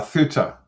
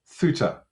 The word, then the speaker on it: Ceuta: Uh it's called uh Ceuta. Ceuta. It's spelled Let me get this right. c u c e u t a c e u t a but it's pronounced Ceuta in Spanish.